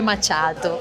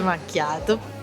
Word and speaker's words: macchiato: il naso e dicono: non si dice macchiato, si dice macciato. Io ogni volta gli direi: dai retta a me, si dice macchiato.